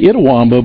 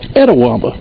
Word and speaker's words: Itawamba: like Etta wamba right you know it looks like it would be ITA itawamba but the natives pronounce it edawama there's a check swing